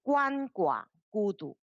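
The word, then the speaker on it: 鳏寡孤独: 这个字读怎么读了？啊，害人失去伴侣而孤独了。这个是这两个字，鳏寡孤独。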